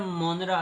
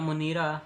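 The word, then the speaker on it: Monera: वो कहता है इन जनरल characteristic of 5 follows as kingdom मोनरा या मोनीरा, किंगडम मोनीरा इसकी वैसे प्रोनाउंसिएशन है।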